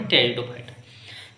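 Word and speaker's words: Pteridophyta: English में लिखते हैं पी से स्टार्ट करते हैं पी इसमें साइलेंट होता है तो टेरिडोफाइटा क्या पढ़ते टेरिडोफाइटा इनमें क्या होता है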